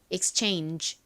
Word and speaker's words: exchange: 끝에 GE 부분을 약하게 바람 빠지듯이 발음하여 exchange exchange 이렇게 발음이 됩니다 따라해 보세요 exchange exchange 좋습니다 끝에